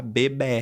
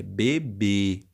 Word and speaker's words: bebê: fechado né porque se eu falasse com som aberto eu teria que falar bebé é mas não é bebé é bebê então o som é fechado quando eu tenho um som fechado né uma sílaba tônica forte fechada nós marcamos o acento circunflexo tá o mesmo ocorre com